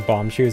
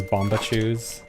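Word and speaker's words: Bombchus: I remember I also used to mispronounce bomb shoes as bombach shoes. I don't know where I thought the A was coming from.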